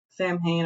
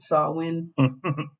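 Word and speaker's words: Samhain: I I don't really I like talking about Sam Hayne I like I I'm gonna continuously say sam hay even though it's pronounced saw win well just easier to roll off off the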